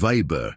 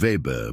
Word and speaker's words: Weber: Weber," he said, pronouncing it Weber instead of Weber, but I didn't correct him.